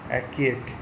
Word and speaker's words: archaic: फिर 10 नंबर में क्या है, ये है एक्यक। एक्यक के क्या होगा 10 नंबर डी, ARCHAIC, एक्यक, ठीक है, ARCHAIC, एक्यक, ये प्रोनाउंसिएशन सही है।